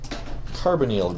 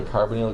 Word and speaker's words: carbonyl: Don't ask me why the first once sounds like this, hydroxyl group, kinda with a short sound, and this one says carbonyl, with a long E sound.